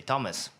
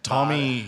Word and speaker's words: Thomas: So, for example, in Great Britain, in the UK, or let's say in the US, you would say Thomas or Tom, right? Yeah, Tommy.